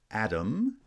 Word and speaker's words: atom: You should have noticed that atom has stress on the first syllable, but when I add the IC ending, the ic ending that makes an adjective atomic, right, stress has shifted to the second syllable.